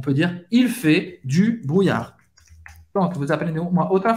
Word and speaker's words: brouillard: Você vai pronunciar o R e não pronunciar o D no final.